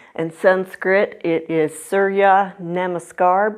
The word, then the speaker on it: Surya Namaskar: In Sanskrit, it is Surya Namaskar B. I finally pronounced it right.